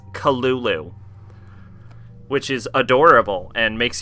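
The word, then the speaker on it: Cthulhu: culu you know actually the lovecrafting pronunciation guide uh says that cthulu is actually meant to be spelled uh said Kulu like it's not cthulu it's culu which is adorable and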